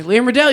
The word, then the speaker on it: Liam Riddell: That's me, Liam Riddell.